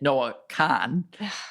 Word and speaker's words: Noah Kahan: And every person is pronouncing it Noah Khan.